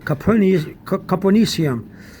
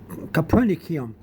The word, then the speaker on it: Copernicium: Some people pronounce this as the C-I-cium, and some pronounce it cium, Copernicium. But some people also pronounce it Copernicum.